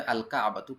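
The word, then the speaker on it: الكعبة: সলাতু সালাদটি বা নামাজটি, এখানে লাম উচ্চারণ হবে, আল কাবাতু কাবা, আর রসু মাথা,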